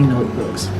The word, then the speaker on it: notebooks: again these are my notebooks can you notice that Z sound at the end of this word these are my notebooks